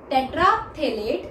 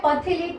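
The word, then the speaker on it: terephthalate: Polyester जो होता है, पॉलीथीन और टेट्राफ्थेलेट टेट्राथेलेट, ये जो है पथेलेट नहीं बोलना है, ये पी साइलेंट होता है, तो पॉलीइथीन और टेट्राथेलेट का जो है पॉलीमर होता है।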